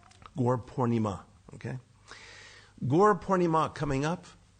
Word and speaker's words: Gaura Purnima: um gor pora by a lot of people say gor porim please get the A on the end there it's a long a gor pornima okay gor pornima coming